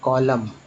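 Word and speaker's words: column: और ये देखिए COLO यहाँ पर हो जाएगा M, और यहाँ होगा N क्या बोलते हैं, कॉलम। तो यहाँ M का उच्चारण हुआ, ना कि N का।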